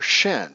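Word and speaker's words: Shin: Okay, but the point is this is the letter Shen, pronounced the same, and it means spirit. Okay, and it is pronounced the same as what we see in the Chinese character, which is also called Shen.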